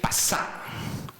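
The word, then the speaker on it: פסח: Y algo precioso: Pascua en hebreo quiere decir pasá. Así es que se pronuncia la palabra pasá.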